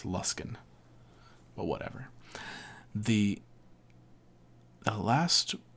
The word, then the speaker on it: Luskan: You pronounce this lus luskin like you don't you don't pronounce it like ran or can it's luskin but whatever the the last would be number three lost in charwood mad like me.